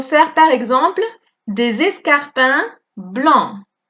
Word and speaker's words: blancs: Si on veut faire une phrase au masculin pluriel, alors nous pouvons faire par exemple des escarpins blancs. Añadimos la S al escrito, pero no se pronuncia, ¿eh?